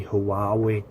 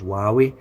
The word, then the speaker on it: Huawei: my thoughts on the hawawa or it's not Hawaa because you know it pronounced h i think is why we y9 2019 if you